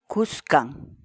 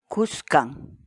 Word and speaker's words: kuskan: de vídeos en la que te enseñamos a pronunciar algunas palabras en quechua así que nuestra palabra del día por hoy es buscan buscan buscan la palabra quechua es khan en español